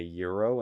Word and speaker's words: gyro: Is there a difference between a euro and a sub? What the fuck? Oh, did you really pronounce a gyro a euro? I guess that's how it is pronounced, right?